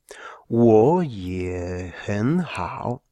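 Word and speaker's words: 我也很好: Con lo cual, siguiendo la regla general, pasaría a ser un segundo tono. Es decir, la pronunciación de 4 terceros tonos se convierte en esta pronunciación. Wo ye hen hao.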